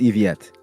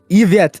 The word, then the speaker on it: Yvette: It's pronounced Eviette. I searched up French names for this. Trust. Yvette? No, not Nouvellette. Yvette.